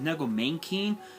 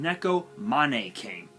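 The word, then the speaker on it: Neko Mane King: Neko money King I I don't know why people pronounce it as nego main Keen it's pronounced Neko Mane came which is kind of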